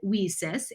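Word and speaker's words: WiCyS: acronym w-i-c-y-s weases and we pronounce it we sis as in we sisters because that's exactly what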